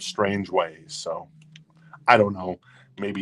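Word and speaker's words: Strangeways: once told me that it's pronounced strangways instead of strange ways so I don't know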